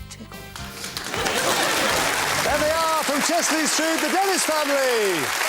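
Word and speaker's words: Chester-le-Street: It's Chester L Street, but how do you say it? Chesley Street. Chesley Street.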